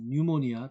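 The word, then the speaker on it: pneumonia: from preventing 라이프 생명 감염이라든지 또는 뉴모니아 피자 발음 안 돼요.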